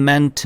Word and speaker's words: meant: 그 다음에 mean, meant, meant예요. 의미하다. mint가 아니라 ment입니다.